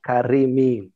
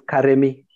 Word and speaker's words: Karemi: screenshot or also but actually the name was written not pronounced as karim in in kikuyu it's karemi all right we have